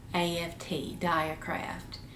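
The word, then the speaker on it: Dyakraft: diecraft needles i highly recommend them see the it's spelled d-y-a-k-r-a-f-t dye craft and they they're not sold anywhere you have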